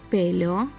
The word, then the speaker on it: pelo: Pelo, here the stress falls on the first syllable.